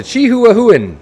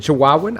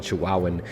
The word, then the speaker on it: Chihuahuan: is the Chihuahuan Desert to chihuahuen that's not how you say it the Chihuahuan I don't know I think so here's the desert those